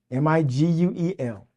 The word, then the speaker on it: Miquel: My mother named me Miguel Antonio Lewis, Miguel. My mother was also my very first phonics teacher.